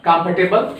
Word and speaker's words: comfortable: In comfortable, what happens? The sound of OR means the letter OR are not pronounced. So if you will skip the letter OR, now we have remain comfortable. Now the correct sound is comfortable.